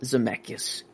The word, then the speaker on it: Zemeckis: Yeah, Robert Zemeckis.